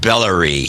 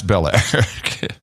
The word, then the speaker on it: Belair: David in Belair Texas could be pronounced bellery no it's Belair uh Charlie Rose sex